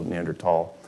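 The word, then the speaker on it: Neanderthal: then homohabilis neander um the Germans pronounce it with a hard T like my last name so neander tall that's how I pronounce it too here's a fun fact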